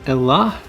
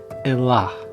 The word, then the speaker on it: Elah: Aramaic it's written as Elah Israel. That's using an aspirated hey at the end of the word, which we don't really have in English, but it's more of like a kind of a sound.